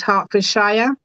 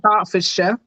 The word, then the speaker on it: Hertfordshire: Yeah, I had a little giggle there because you said Hertfordshire. We Uh-huh. say Hertfordshire, Oh, so okay, it's just in the pronunciation.